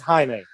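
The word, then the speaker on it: Jaime: using the uh is it is it is do I pronounce the J and Jamie Reyes or I think it's Haime I think it's Haime Reyes as well.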